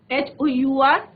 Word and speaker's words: hour: HOUR, H silent है, आर, एन आर।